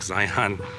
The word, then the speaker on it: Zion: For the one person that's gonna say, oh, you can definitely tell he's not from Utah because I'm pronouncing Zion like Zion. I know you guys pronounce it Zion, you know, and I've been pronouncing it your way for a long time, but I just thought